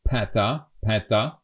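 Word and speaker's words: päta: We have this special word, as I said, a wide "a." So it should be pronounced as peta, but we don't care, we say peta.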